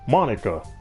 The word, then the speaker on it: Monika: huh oh wait hey that's not how you say my name at all it's pronounced monika not monika also that joke makes